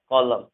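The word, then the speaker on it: column: देखो एन जो है जब भी एम के बाद होगा, यानी एम के बाद अगर एन होगा एम के बाद, तो एन हमेशा साइलेंट होता है। जैसे यहाँ पर हम पढ़ेंगे autumn, कॉलम, कंडेम, haem, dam, यहाँ एम के बाद एन है, यानी एन यहाँ पर साइलेंट होगा।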